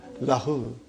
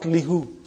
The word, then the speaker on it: lahu: It becomes lahu, not lihu. Lahu. Okay? It changes because it's easier to pronounce. Now that change is for the phonetic reasons, not a grammar reason.